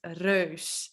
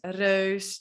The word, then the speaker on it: reus: And giant is reus. So neus, reus, deuk.